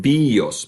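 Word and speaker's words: βίος: bio in Greek, but the pronunciation is actually more about bios, right? So it's a halfway sound between the letter B, and V, okay?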